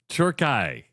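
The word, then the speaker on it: Türkiye: I think now for the World Cup, we have done that because the American or English translation of how it's pronounced is Turkey, right? But in Turkey, it's Turkai.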